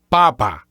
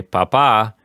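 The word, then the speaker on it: papá: Papa.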